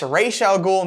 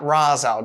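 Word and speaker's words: Ra's al Ghul: me crazy Venuti what's so annoying and it's pronounced racial goal not Raza to be fair this actually looks like it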